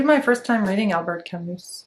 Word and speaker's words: Camus: It'll be my first time reading Albert Camus. Camus. Tous les noms français, on doit les prononcer en français. Albert Camus.